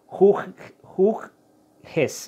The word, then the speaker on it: Hughes: gracias a un periodista de Inglaterra llamado Matt Hoyes, es que, a ver si lo pronuncié bien, Hoggis o Hoyes, como le quieran decir. Bueno, les voy a dar la pronunciación, es Matt Hughes, ¿no?